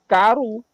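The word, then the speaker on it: כָּרוּ: Nah, sementara kalau dalam teks Nahal Hever, itu huruf belakangnya bukan huruf yod, tapi huruf waf, huruf wawu kalau bahasa kita. Jadi lebih panjang. Kalau huruf yod kan pendek ya hurufnya. Tapi kalau huruf waf itu panjang. Jadi dibacanya karu.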